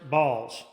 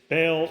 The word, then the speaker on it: Baal: the Lord and served balls. Okay. Uh just for clarification, it's Baal or Bal, however you want to pronounce it.